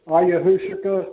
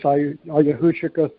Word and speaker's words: ayahuasca: There's a guy that he's talked about drinking this ayahuasca tea, I think it's pronounced, and that gave him a real magical experience drinking this ayahuasca tea.